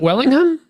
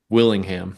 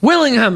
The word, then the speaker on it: Willingham: it even so and your stone is it wellingham Willingham Willingham ah so Stone Wellington